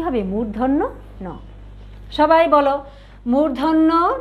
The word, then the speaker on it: মূর্ধন্য ন: মূর্ধন্য ন, সাথে কিন্তু নটা বলেছি, পুরাটাই এভাবে বলতে হবে, মূর্ধন্য ন। অনেকে আমরা বলি মূর্ধন্যান্ন, এটা কিন্তু না, এটা কি হবে? মূর্ধন্য ন।